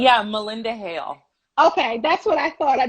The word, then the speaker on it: Malynda Hale: to make sure i say it correctly yeah melinda hale okay that's what i thought the y i